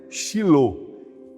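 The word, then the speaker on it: שילוח: particípio passado hebraico shiloh Essa é a pronúncia shiloh significa enviador assim Provavelmente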